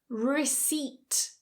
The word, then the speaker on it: receipt: Receipt, receipt. So the P is silent, not receipt.